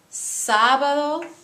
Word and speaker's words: sábado: Lunes, martes, miércoles, jueves, viernes, sábado, domingo. Please note that there is an accent on miércoles and there is an accent on sábado, both in the pronunciation and the writing.